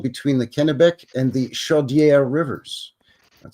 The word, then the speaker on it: Chaudière: the Kennebec and the Chaudière rivers. That sounds fancy. Chaudière. Yeah, nice. Sounds like a French guy saying chowder. Chaudière.